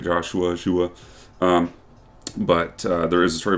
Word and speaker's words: Shua: And the Canadians pronounce it Shua a lot. Go fuck yourselves. Learn English. It's Shua.